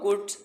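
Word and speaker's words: could: द cow heard the साउंड हाउ कुड such a small how कुड कुड कुड को आपने 10 बार पढ़ना है। अक्सर बच्चे इसे कुल्ड पढ़ देते हैं। कुल्ड नहीं है ये इसमें एल साइलेंट है।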